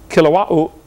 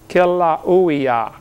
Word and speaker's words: Kilauea: Basalt from Mount Kilauea, however you say that. They pronounce every vowel over there in Hawaii. Kilauea, Kilauea-iki, something like that.